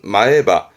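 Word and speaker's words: 前歯: 발음은 마에바. 이때는 땡땡부터 마에바, 마에바.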